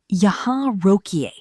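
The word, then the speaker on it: यहाँ रोकिए: Say loudly and clearly Yahan rokiye. Yahan rokiye. It means please stop here. Pronounce it ya han ro ki ye.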